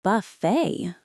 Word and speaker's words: buffet: In English, we absolutely skip the t in this word, too. It's pronounced buffet. It rhymes perfectly with the word say or way. You need to make sure you stress the second syllable.